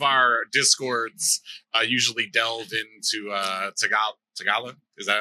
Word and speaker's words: Tagalog: I'm going to assume that there are pretty decent, because a lot of our discords usually delve into Tagalog. Is that how you say it? Yeah, Tagalog.